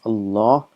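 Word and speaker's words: الله: we know see here this alif is actually omitted is Allah is pronounced as Allah what is written us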